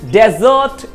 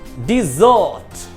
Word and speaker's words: desert: अब एज a verb जो होगा तो इसका प्रोनाउंसिएशन चेंज हो जाएगा। अब देखना स्ट्रेस जो है वो सेकंड सिलेबल पर है, डिजर्ट, अब इसका प्रोनाउंसिएशन भी चेंज हो गया, डिजर्ट।